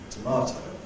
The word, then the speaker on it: tomato: Tomato, stressed on the middle syllable.